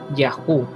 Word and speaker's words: Yahu: Sin embargo, cuando la yod y la hei son un sufijo, siempre pronunciará Yahu y nunca pronunciará Yeho. Por consiguiente, como es muy